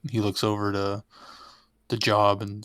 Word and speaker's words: Gob: Did you call him Job? Job. Gob. How it's spelled. It is spelled Gob. Yeah. But you would never know it unless No. you had the subtitles on, at least not at this point in the show.